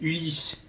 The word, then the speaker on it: Ulis: Et là, c'est Ulysse, U-L-I-S.